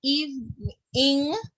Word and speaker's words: evening: We spent the evening lingering. Start again for me. We spent the evening. Evening. So it is how you break it is eve, eve, ning, evening. That's how you pronounce it.